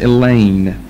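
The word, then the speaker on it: Elene: in the epilogue the first poem is entitled Elaine e-l-e-n-e which is a story of how Helena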